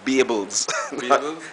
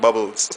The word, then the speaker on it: Bables: his name is pronounced bables yes that's what he said he say his name is pronounced bables and not bubbles all right so Michael